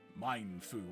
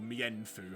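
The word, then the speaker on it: Mienfoo: We've got Pokeball Menchino, Pokeball MFU or Meenfu, how you want to pronounce it because I'm weird.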